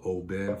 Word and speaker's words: Oban: It's spelled O-B-A-N, but I think it's called Oban from what I understand. A friend of mine told me that's the way you say it. She was in Scotland and she learned the right way to say it's Oban.